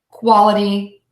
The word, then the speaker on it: quality: way to practice so we want to make sure that middle syllable is super duper short the shortest syllable in the word and syllable number one will be the longest syllable in the word so we have purrr Cuddy Quoddy of a deep so purity quality cavity give those a try